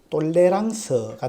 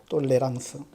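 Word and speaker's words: tolérance: 발음하면 탈룸 이렇게 되는데 프랑스식으로 발음하면 똘레랑스가 됩니다 똘레랑스 그이 단어의 뜻이 뭘까요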